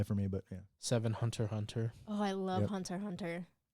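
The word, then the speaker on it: Hunter × Hunter: a very good one see how I didn't call it hunter EX Hunter proud of you it even has it Hunter x Hunter pronounced Hunter Hunter it's funny if you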